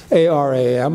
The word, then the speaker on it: Aram: Aram is an Armenian name, A-R-A-M. A-R-A-M, My Name is Aram, or, you know, Americans would pronounce it Aram.